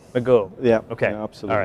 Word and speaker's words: Magor: Nice How did I do on the pronunciation? My Welsh is a little rusty. It's getting there, actually, like Magor. Magor.